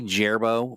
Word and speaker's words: Gerbo: In chat here, Gerbo the Druid, which might be Gerbo, but we're going to go with the hard G on this.